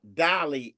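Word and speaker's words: DALL-E: But the bottom line is, let's look at Dolly and GPT, because Chat GPT's image maker is the Dolly aspect of it. That's spelled DALLE.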